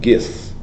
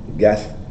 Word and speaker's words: Goethe: It's a quotation by Johann Wolfgang von Goethe. I'll spell it for you. Johann, J-O-N-A-N-N. Johann Wolfgang, as it is, Wolf, then gang. Von, V-O-N, Goethe, or Goethe, G-O-E-T-H-E.